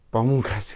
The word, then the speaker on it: Pamungkas: ke Pak Wahyu Pamungkas namanya Pamungkas dan ini bacanya Pamungkas gaya terakhir ya episode